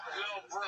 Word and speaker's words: LilBrough: He spells bro with 3 silent letters at the end. Lil Bro.